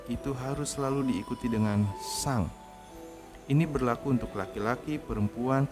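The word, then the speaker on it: さん: Tapi kalau normalnya menggunakan sang. Jadi ini san, tapi dibacanya sang karena n dibaca.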